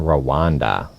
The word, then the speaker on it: Rwanda: Eastern Democratic Republic of the Congo, DRC, and Rwanda.